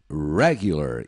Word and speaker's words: regular: se repita Culture Culture regular se escreve igualzinho a português mas a pronúncia inglês é na primeira sílaba regular e esse R tem um som de R né regular Vamos ouvir e repetir